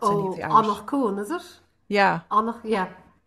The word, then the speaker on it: Anach Cuain: One of them was about the boating accident, and I hesitate to pronounce any of the Irish. Anach Cuain, is it?